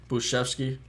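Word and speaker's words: Bujcevski: buczefsky got kind of got injured last year buschevsky that's pronounced that's the correct pronunciation he got injured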